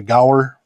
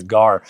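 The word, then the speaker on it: Gaur: I've heard it pronounced a bunch of different ways. I call it the Gower. The Gower or the Gar. EDC family, just so you know, it is spelt G-A-U-R.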